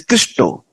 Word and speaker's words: Krishna: explained because in India bengali's people when they use the word Krishna they pronounce it as Christo you may have heard